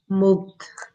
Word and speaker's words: moved: What's the sound at the end? Ed. Moved. D. Ed. Moved. Yeah, with a D.